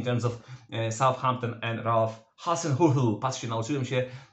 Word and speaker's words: Hasenhüttl: injuries, suspensions in terms of Southampton and Ralf Hasenhüttl. Patrzcie, nauczyłem się wymowy tego nazwiska niemieckiego trenera Southampton, Hasenhüttl.